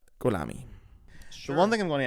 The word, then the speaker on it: Gholami: your name for me it's golami golami it's not Hami it's not Hami it's technically but don't worry about that Ami how would you pronounce it in farsy goami oh okay okay so